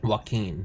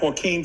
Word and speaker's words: Joaquín: is it is it it's joaquin joaquin you know like joaquin phoenix yes oh yeah okay